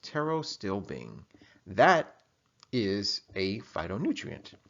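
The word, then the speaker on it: pterostilbene: have Tarot still being that's right guys it's pronounced Tarot still Bing that is a phytonutrient right so now that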